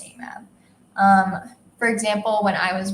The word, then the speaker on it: AMAB: at birth, for which the acronym is AMAB, pronounced AMAB.